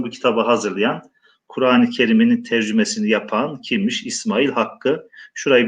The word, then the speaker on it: tercüme: Kur'an-ı Kerim'in Türkçe tercemesi veya tercümesi, günümüzdeki telaffuz şekliyle tercümesi şeklinde okuyoruz.